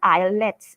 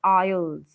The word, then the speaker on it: IELTS: in a wrong way it's not islets it's aisles okay so when we